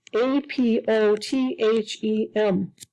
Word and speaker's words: apothem: It's called APOTHEM. The correct way to say it is apothem, with the accent mark on the A.